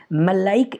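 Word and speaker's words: maleic acid: इसलिए गलत प्रोनाउंसिएशन के थ्रू इन दोनों का डिफ्रेंशिएट करते हैं। इसके लिए बोलते हैं मैलाइक एसिड, मैलाइक एसिड, और इसके लिए बोलते हैं मैलिक एसिड।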